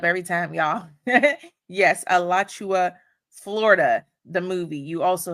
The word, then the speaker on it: Alachua: Y'all gonna laugh at me, but I cannot pronounce the first part of the movie, but it's Alua. Is it Alua Florida? The movie. It's Elachua, Florida. See, I mess it up every time, y'all.